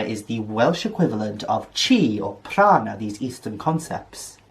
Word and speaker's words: chi: that key key kai how do you pronounce that oh it's just chi oops nuevra has been